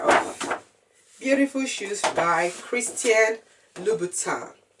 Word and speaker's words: Louboutin: It's a review of a pair of beautiful shoes by Christian Louboutin. However it is pronounced, all I know is that the N is silent.